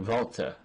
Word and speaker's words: WALTER: a wrestling name so you gotta say it like this Walter Walter bul I think it's vul he tu art of something Volta don't say Walter that's maybe was a